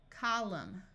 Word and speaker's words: column: combing climb climbing climber if you have MN at the end of a root the N will be silent so this sound is m m Au says a Autumn column solemn if you have W